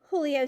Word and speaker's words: Julio: name young man julio julio sanchez he pronounced it the spanish way with a j having an h sound you have a couple